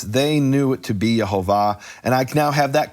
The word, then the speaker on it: Yehovah: I can show you from Jews from this period and earlier and later, who said the vowels are Shva, Cholam, Kamatz, Yehovah, explicitly, not an opinion.